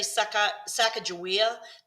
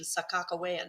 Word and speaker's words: Sacagawea: A lot of people say Sacagawea, but the native peoples tend to prefer the pronunciation Sakakawea now, with K's in the spelling.